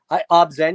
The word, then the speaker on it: Obzen: or Omai or I don't know how you pronounce it. It Oh, starts. yeah. What? Oh shit. Obzen.